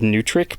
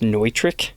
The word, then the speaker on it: Neutrik: locking output Jack so it looks like it says new trick but no it's actually pronounced neutrik in order to get